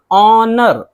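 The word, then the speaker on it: honour: ऑनर, ऑनर इसमें देखिए शुरू में ही एच है लेकिन एच नहीं पढ़ रहे हैं।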